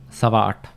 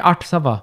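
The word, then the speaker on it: ਸਵਾ ਅੱਠ: I feel like saying art sava. I don't know why. Some people say it like that. Art sava. Yeah, in different parts of Punjab, they'll say it like that, but we say sava art.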